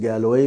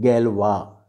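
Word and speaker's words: Galois: जिसका नाम उन्होंने GALOI, ये आपको लग रहा होगा शायद गैलोए मैंने लिखा है, लेकिन इसे फ्रेंच में प्रोनाउंस करते हैं गैलवा।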